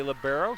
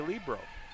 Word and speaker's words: libero: Some say libero, some say Libro. Karen Frell, a 54 match winner who's standing next to me says if it's good enough for Karai, it's good enough for me. She pronounces it Libro.